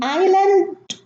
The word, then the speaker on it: island: In island, isle, and isle, we have a silent S. And the S, the silent S, is preceded by the vowel I, and it's pronounced as an I. Island, isle, and also isle. There is no S.